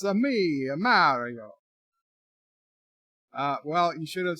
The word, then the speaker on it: Mario: If you try to bribe me instead of threaten me, I might have bought into your fake pronunciation of Mario, but it's Mario.